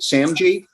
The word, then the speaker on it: SAMG: completes the acronym or samjee am i pronouncing it right sam g that is correct where's sam g sam